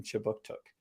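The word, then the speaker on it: Kjipuktuk: Services conducts business in Chibuktuk, which is how you say Halifax in the Mi'kmaq language.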